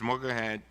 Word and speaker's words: Mogahed: Mogahed, am I pronouncing it right?